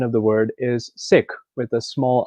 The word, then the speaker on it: Sikh: And a lot of people have different pronunciations for it, but the accurate and correct pronunciation of the word is Sikh with a small I.